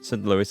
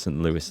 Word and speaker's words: St. Louis: St. Louis. I think it's You pronounce the S, don't you, on this one.